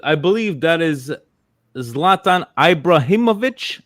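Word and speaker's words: Ibrahimović: believe that is Zlatan ibraimovic I believe is this how we pronounce his name yes okay it's Ibrahimovic right um but yeah I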